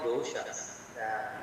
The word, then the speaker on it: dosha: Okay, and these are called doshas, not dosa, not the restaurant where we eat the food.